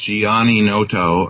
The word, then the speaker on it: Gianninoto: okay I was saying my name is pronounced Giani Noto and I I don't